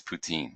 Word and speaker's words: poutine: hate mail that I'm pronouncing it poutine instead of poutine, which is the way they like to pronounce it. But I'm sorry, I'm not. I'm saying it's poutine.